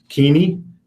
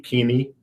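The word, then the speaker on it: Keeney: the service memorials to City Impact in Lincoln keaney Mickey G keaney 34 of Lincoln that's spelled k-e-e-n-e-y passed away on July 26th memorials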